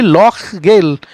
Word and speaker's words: Lochgyle: एंड नाउ हु बी ये would cross लॉक, इसको LOCHGYLE लॉक गेल, ऐसे इसको इस तरीके से प्रोनाउंस करना है।